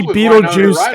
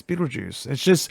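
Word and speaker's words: Betelgeuse: It's Beetlejuice. It's spelled like the star.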